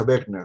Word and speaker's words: Wegener: Pero se pronuncia Wegener, ¿no?